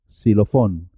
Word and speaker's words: xilófono: ex examen saxofón oxígeno en el resto de los casos suena como una s xilofón extranjero xilófono extranjero la y la